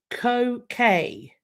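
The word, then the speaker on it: Koh Ker: Today I am going to be sat in front of a place called Ko Kay, and it is in Cambodia.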